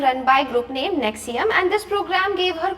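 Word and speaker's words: NXIVM: administered by the local organization Nexium, pronounced Nexium.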